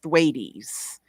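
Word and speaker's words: Thwaites: Florida and it's called thees it's looks like the word wait like wait wait wait for me but it has a th in front of it and it has a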